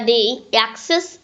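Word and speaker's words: deixis: The Greek word "diaxis" pronounced like day The Greek text word "deaxis" pronounced the day "axis", which means pointing via language.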